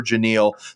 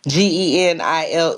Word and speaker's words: Genile: Just think Captain and Tennille and replace the T with the G. There it is. Genile, everybody. Well, Genile, absolutely pleasure to have you here.